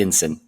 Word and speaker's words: NSIN: national security innovation Network we also call it Ensign it's one of those acronyms we like to pronounce but yes nsin uh